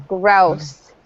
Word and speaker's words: grouse: Rhymes with house. I think that there's been a mistake. Oh, no, there hasn't. Okay. Gun? Okay, you're not going to get it because it's tricky. It's grouse.